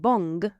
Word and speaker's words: bon: So normally the word bon is pronounced with a nasal sound on the end. As I said, if you say the word bong and take the G off, that's how you say bon.